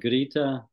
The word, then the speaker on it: Greta: And it was more like Greta Thunberg. Oh. So the G was like a Y.